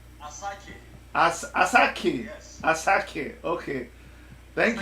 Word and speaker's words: Asake: Did I pronounce it well? Asake? Asake.